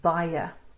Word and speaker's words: baie: Okay, the short I that you get in mine would be in baie. And please note the syllable ends after that diphthong. Baie, two syllables.